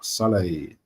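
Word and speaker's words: Sallai: Roland Salah Salai, that's how you pronounce his name.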